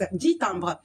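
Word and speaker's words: dix timbres: معلومة بس كده على السريع الإكس في الأعداد لما بيكون قدامها une consonne الكلمة التانية مش بننطق الإكس 10 تامبر.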